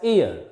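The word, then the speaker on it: heir: h e i r here this h is silent is not pronounced it is pronounced as ear and next some abbreviations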